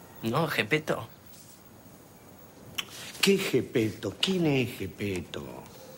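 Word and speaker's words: Geppetto: Se pronuncia Gepetto.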